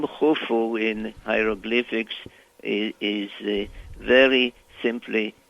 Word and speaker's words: Khufu: an F, and then there is a symbol which is a circle with crossed lines that supposedly represent a sieve that is pronounced so it's U, F, U, Khufu, which we call Cheops in English.